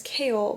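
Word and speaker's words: Chaol: be the love interest, his name is Kale, but it's spelled so weird.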